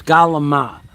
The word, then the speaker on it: calamari: It sold some calamari, and that's how you say it. You don't say calamari. It's not calamari. You people can't get it through your head. It's calamari. Calamari.